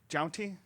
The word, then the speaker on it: Jountti: And JOUNTTI. JOUNTTI. JOUNTTI. God, JOUNTTI. JOUNTTI. JOUNTTI. So the emphasis on the T. Yes. We've been putting the both wrong of them. emphasis on the wrong syllable.